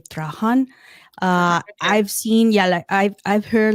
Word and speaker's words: Trahan: something like that, but I say Trahan is my. Okay. Yeah, I can't pronounce it differently. So my husband says that, it is the way that has to be pronounced.